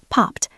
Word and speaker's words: popped: Notice the pronunciation of the past tense, popped, P-O-P-P-E-D. The ed sounds like a T because pop ends in a voiceless sound.